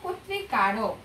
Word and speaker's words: কর্তৃকারক: বয়কার ক তৈত্রিতা বক্তৃতা এবার কর্তৃকারক কর্তৃকারক এরকম কয় ওকার দিয়ে আমরা উচ্চারণ করব এবার পাঁচ নম্বর দেখো